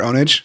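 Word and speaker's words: Pwnage: Did you ever watch Pure Ownage? No. Or Pure Ponage, if you want to call it that, because it's spelled PWNANG.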